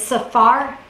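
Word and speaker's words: saphar: several sources okay is Safar in our English we would spell it s-a-p-h-a-r we do pronounce it kind of like you just heard saw and far and I like that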